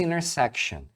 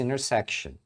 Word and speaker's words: intersection: coisa é o intersection Geralmente as palavras que começam com Inter Por causa da combinação NT eles também omitem esse T aqui então aqui você vai ouvir muito a pessoa pronunciar next intersection the next intersection mas